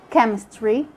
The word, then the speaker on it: chemistry: chip or chair but sometimes the h is silent we just ignore it in the ch and we only pronounce the sound of the c like can you say school chemical chemistry mechanic we have another case